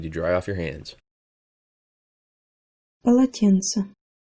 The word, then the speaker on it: полотенце: Полотенце. Полотенце. Полотенце. Most of the syllables in this word are hard. Pa, la, and then tse at the end. However, in the middle, tsin is soft.